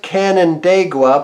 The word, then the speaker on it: Canandaigua: It's pronounced Canandaigua, but what's Canandaigua?